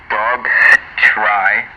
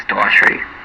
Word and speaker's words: Daughtry: Well, there's a G in there, so I guess it could be Dog Try, but I think it's Daughtry.